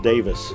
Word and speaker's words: Davies: think it's how should pronounced Davis in England I well it's Davies in America so in answers to